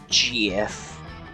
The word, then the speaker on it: GIF: it's pronounced memes and GF with the hard G here for it I'm